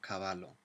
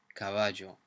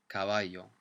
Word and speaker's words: caballo: So it's not caballo. I pronounce it as a J sound, like a J in English, caballo. But you'll also come across it. It's very common to pronounce it as a Y sound, like a Y. caballo, especially in Spain.